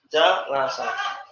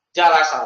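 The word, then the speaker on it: جَلَسَ: Ini jalasa.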